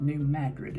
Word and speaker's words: New Madrid: series of earthquakes struck New Madrid Missouri or they might pronounce it New Madrid in that area Missouri on February 7 1812.